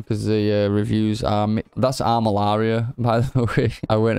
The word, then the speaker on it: Armillaria: That's Armillaria, by the way.